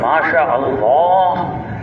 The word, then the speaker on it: ماشاء اللہ: بہت اچھی طرح سکھائے۔ یہ نہیں کہا کرو ماشاء اللہ ماشاء اللہ، یہ کہا کرو ماشاء اللہ۔ انہوں نے موٹی آواز کر کے اچھی طرح اچھے تلفظ کے لیے، اس کا صحیح تلفظ ہے ماشاء اللہ۔ ہم صرف یہ نہیں